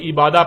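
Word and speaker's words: عبادة: اور جب عربی لہجے میں اس لفظ کو پڑھا جاتا ہے تو تیز ساکت ہو کر ہے کی آواز میں بدل جاتی ہے، یعنی اسے عبادہ پڑھا یا بولا جائے گا.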